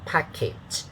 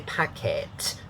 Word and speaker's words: package: that are the ipa the second syllable has a short a sound is there this one short a so package okay not packet if you say packet is a cantonese okay and uh not